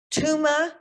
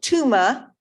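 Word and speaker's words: Thuma: And the words to this song are Tuma. It's spelled T-H-U-M-A for those of you who need to have that visual in front of you. But Tuma, Mina, M-I-N-A, Mina.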